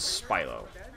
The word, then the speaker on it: Spilo: PLEASE host have mercy how do you say your name spy lo it is spy lo I don't really care